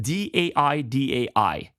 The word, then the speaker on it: dai: And it's spelled D-A-I-D-A-I.